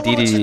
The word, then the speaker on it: Dedede: You know those people say King Day-Day? Say King Dedede? Or King Dedede? Because, like, the thing is, King Dedede is how you say it, but King Dedede, like, at least, like, sounds a little better.